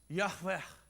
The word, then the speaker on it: Yahweh: No vowels in Hebrew. Consonants. Yahweh.